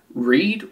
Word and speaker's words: read: Read rhymes with lead. Red rhymes with lead. But read and lead don't rhyme.